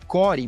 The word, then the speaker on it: Quor: Então, com isso a gente lançou um produto que se chama Core, de Core, mas se escreve com K de queijo, né? Q-U-O-R, core.dev, né? O Core é um registry de imagens hardenizadas.